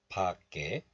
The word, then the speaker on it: 밖에: So the 쌍기역 moves to the next letter. And this 에 becomes 깨. 바, 깨. 밖에.